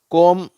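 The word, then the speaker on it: comb: Dwayne two சரி அடுத்தது எம் பி இந்த இரண்டு எழுத்துக்கள் சேரும் பொழுது இந்த பி சைலென்ட் ஆயிடுது சரியா இத வந்து எப்படி படிக்கணும் இம்னு படிக்கக்கூடாது அப்படின்னு படிக்கணும் அவ்ளதான் பியும் சேர்ந்து வந்தா இது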